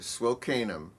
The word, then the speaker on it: Swil Kanim: you say it together swell kanem it's two words but it's like a sentence yeah well welcome and